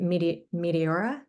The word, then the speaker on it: Meteora: And then Joy had a question on, hopefully I'm pronouncing this correctly, Meteora?